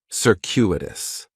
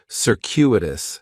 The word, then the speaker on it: circuitous: like is circuitous and circus has four syllables and there's a few things going on with the pronunciation in the first syllable that c is going to have more of an S sound circuitous the stress is going to be on that second syllable and that CU is kind of like you're saying the letter Q circuitous circuitous circuitous is